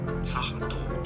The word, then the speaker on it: Sachertorte: German pronunciation. Sachertorte.